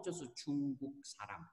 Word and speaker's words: 중국: So the correct way to say is 중국, everyone. 중국.